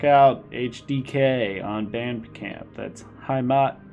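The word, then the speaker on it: Heimat: hdk on bandcamp that's hi Matt Derek catastrophe that's how I pronounce it at least uh hi Matt is spelled h-e-i-m-a-t by the way so let's get started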